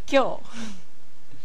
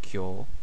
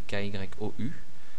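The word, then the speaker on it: 今日: a prononcé par exemple Kyo, donc qu'on écrit avec notre alphabet à nous K-Y-O-U. Donc voilà, par exemple, on ne va pas prononcer Kyo-U ou quelque chose comme ça, c'est Kyo.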